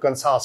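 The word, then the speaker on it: Kansas: मैंने एमबीए किया मैंने कैसस से किया जिसे मिस प्रोनाउंस करते हैं पाकिस्तान में लोग कसास कहते हैं तो स्टेट का नाम है कैसस तो वहा से मैंने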